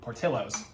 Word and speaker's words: Portillo's: past 4 years, saw Portillo's and thought Portillos because the LL. There's a double L. So I'm like, oh yeah, naturally that's how you pronounce it. This is Italian Americans, not Mexican Americans.